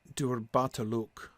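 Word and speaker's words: durbatulûk: Durbataluk and Thrakataluk have a stress on the last syllable.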